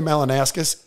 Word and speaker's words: Malinauskas: And I'll tell you what, their premier, Peter Malinauskas, Is that how you pronounce Very it? Very good pronunciation. Peter Malinauskas.